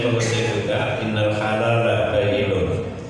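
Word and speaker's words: بَيِّنٌ: Baik sekalian, ini saya mengutip juga innal halal la bayyinun. Kadang-kadang ada yang bacanya karena tidak paham jadi innal halal la bayyina katanya.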